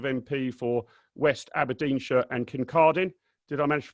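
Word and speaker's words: Kincardine: We're also joined by Andrew Bowie, who's the Conservative MP for West Aberdeenshire and Kircardine. Did I manage to pronounce that right, Andrew?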